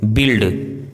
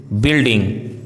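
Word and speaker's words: build: यदि किसी वर्ड में BU या GU साथ में हो तो U का उच्चारण साइलेंट होता है, जैसे बिल्ड, बिल्डिंग, guess, guest, गाइड, guilty, guys, guitar.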